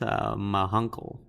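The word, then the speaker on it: Ma Hunkel: So so his Green Lantern says that it's pronounced Mahunkel.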